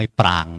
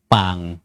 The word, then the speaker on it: ปาง: มี องค์ รูป ทรง ปาง ต่าง ๆ อ่าน ว่า ปาง ไม่ ปาง นะ ปาง ปา สระ อา งู เนี่ย ต่าง ๆ มาก